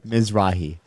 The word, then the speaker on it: Mizrahi: Mizrahi.